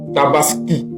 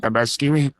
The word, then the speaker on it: Tabaski: Alors chers frères, la deuxième remarque qu'on fait que Alassan Watra n'arrive pas à prononcer Tabaski. Tabaski tabaski non il ditaskini tabaskini.